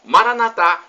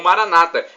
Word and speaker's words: Maranatha: de Jesus eu clamo Maranatha como dizemos nós católicos ou Maranata como dizem nossos irmãos separados os evangélicos ou protestantes não importa a pronúncia porque somos todos irmãos